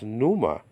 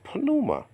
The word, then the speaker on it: pneuma: wonderful, Bible teachers, but the older Bible teachers used to pronounce that as pneuma. Okay, they didn't mention the P at all. And it's not really pneuma, it's pneuma. It's just like the word